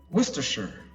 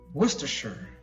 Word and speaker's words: Worcestershire: I know I did now this one is pronounced as Worcestershire again whoa stir sure Worcestershire Worcestershire now Wistar sure is a county in western